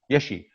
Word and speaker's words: Yeshe: as the producer, your daughter, how do you pronounce her name? Yeshe.